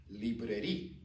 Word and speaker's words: librairie: Most of you can remember we pronounce library in French librairie, librairie, in or en Obelin or in Oberlin, librairie in Oberlin, Obelin.